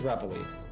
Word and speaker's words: Reveille: Reveille, I think is how you pronounce it. If I'm wrong, you have all permission to correct me in the chat. Okay, it is Reveille.